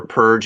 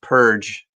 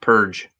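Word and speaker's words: Perg: An ad for Purge in the back. Just recently, I learned that it's pronounced Purge. When I was a kid, I called it Purg, and it's spelled Purg, P-E-R-G, but pronounced Purge.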